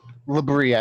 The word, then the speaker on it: Labria: Liabria. Sorry, I don't have the map up at the moment. Labria is how I pronounce it.